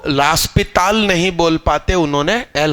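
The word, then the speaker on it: L'Hôpital: तो इसका सही नाम एल हॉस्पिटल नहीं है, ये लास्पिताल रूल है। क्या, लास्पिताल।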